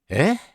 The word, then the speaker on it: え: It's like, eh? Almost like a question.